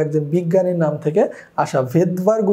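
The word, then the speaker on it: Svedberg: ভেদবার্গ উচ্চারণ হলেও এটার আসলে স্পেলিংয়ে তোমার আসলে প্রথমে এস আসে, এই জন্য এটাকে এস দাও।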